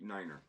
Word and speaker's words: niner: alphabet and numbers uh tells you how to pronounce the the numbers uh 0 1 two three 4 5 six 78 Niner um and it's got a lot of your